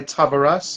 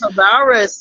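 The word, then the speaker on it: Tavares: Um I remember gravitating to songs like Frank Sinatra's My Way, Heaven Must Be Missing an Angel by Tavaras. Tavaris. Yes. Tavaris. Okay. You pronounce it better than I do.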